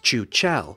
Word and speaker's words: Chuchel: The title refers to the game's central character, a Czech word for a ball of hair and dust that's pronounced Chuchel, and the dev team were kind enough via a tweet to confirm this is how it should be pronounced.